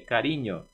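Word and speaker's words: cariño: Cielo missilo carinho carinho lembrei do n que tem o som de NH n é carinho coração coração Esse essa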